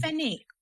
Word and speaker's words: Fenwick: Um Feny, you don't pronounce the W.